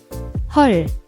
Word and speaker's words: 헐: The EO vowel is a common trap. It's not hull like a boat, but more like the O in sun or love. Your mouth should be relaxed, slightly open, and the sound comes